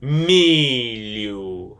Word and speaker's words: milho: You're just, you know, it's there, but you don't pronounce the letter H when you say this word born in Brazilian Portuguese. Milu.